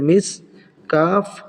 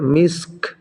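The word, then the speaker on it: مسك: হা উল্টা পেশহু খিতামুহু খিতামুহু মিসক মিম সিনজের miss calf যেহেতু এখানে ওয়াকফ করেছি থেমেছি এজন্য কাফটাও সাকিন করে পড়তে হবে উচ্চারণটা হবে মিসক পড়েন আমার সাথে মিসক তাহলে সম্পূর্ণ আয়াতটা কিভাবে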